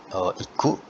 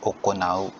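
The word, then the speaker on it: 行う: adalah melaksanakan ya itu kanjinya bacanya bukan oh iku tapi okonau ya dibacanya Coconut teiru connected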